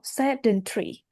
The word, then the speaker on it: sedentary: Oh, sedentary. Mm, Sedentary. Stress on the first of all.